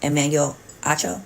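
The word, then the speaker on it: Emmanuel Acho: that Joy had a relationship with her co-host Emanuel AO that's how you say his name and that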